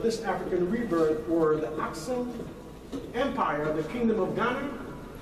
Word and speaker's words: Aksum: The Aksum, see how it's pronounced? Aksum, or Aksum, same thing.